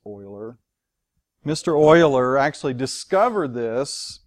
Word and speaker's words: Euler: and it doesn't look like Euler but it's pronounced Euler mr.